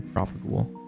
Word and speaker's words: propagule: Need another propagule. Propagale.